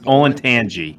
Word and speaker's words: Olentangy: I want to smack patients who call it the Olentangy River. It's Olentangy.